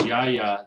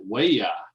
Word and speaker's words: Yaya: So it looks like his name is Yaya. They pronounce it Waya. It looks like Yaya, but he's actually Waya.